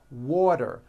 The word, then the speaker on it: water: is pronounced as water the T turns into a D and the whole word is voiced water I want water vector